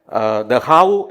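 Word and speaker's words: Dachau: കൊണ്ടുവന്നില്ലെങ്കിൽ ഞാൻ അസ്വസ്ഥനാകും കാരണം ദഹാവു എന്ന സ്ഥലത്തിന്റെ പേര് ഞാൻ പറഞ്ഞ ദഹാവു എന്ന് പറയുന്ന ഒരു കോൺസൻട്രേഷൻ ക്യാമ്പ് ഉണ്ട് ജർമനിയിൽ ഈഡിഎ ദഹാവുന്റെ സ്പെല്ലിങ് അങ്ങനെയല്ല പക്ഷേ ഈ ദഹാവു എന്ന് ഉച്ചാരണം കറക്റ്റ് ആയില്ലെങ്കിൽ എനിക്ക് പ്രശ്നമാണ് പുറത്തു പോയി പഠിക്കണമെന്നും ജോലി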